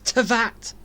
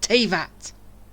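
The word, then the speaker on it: Teyvat: learn the truth okay why they pronounce it wrong it's tat not tavat with your support your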